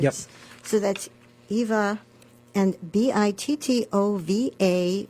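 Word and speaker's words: Bittová: So that's Eva and Bittova with the accent on the A.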